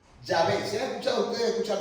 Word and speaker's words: Yahvé: Y en hebreo dice, las cuales se pronunciaban algo así: Yahvé. ¿Se han escuchado ustedes escuchar decir Yahvé? Pero también dice que no solamente es Yahvé, sino Yahweh.